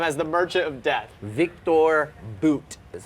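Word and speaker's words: Viktor Bout: Victor Boot is how you say Victor his Boot.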